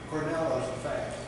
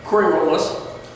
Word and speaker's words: Coriolis: Cornell's effect. Cornell's effect. Yeah. Did I not pronounce it? No, yeah. Coriolis.